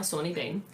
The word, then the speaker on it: Sawney Bean: I have spent ages researching how to pronounce his name, but his name is now Sawney Bean.